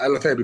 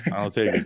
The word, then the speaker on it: Alotaibi: Is that how you pronounce the last name? Yeah, Alotaibi, good, yeah. Alotaibi, good.